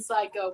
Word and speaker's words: psycho: going on there no i do not pronounce the p in psycho permanent pronouns pronouns